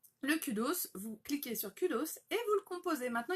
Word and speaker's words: Kudos: Le Kudo, ça s'écrit K-U-D-O-S. Kudos, en fait. C'est toujours le même nom, que ce soit en anglais, en français, en taïwanais, enfin peu importe, c'est le même nom.